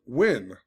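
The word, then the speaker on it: Nguyen: Like, this shit was crazy, but apparently his last name's pronounced Win, you know, so who knows?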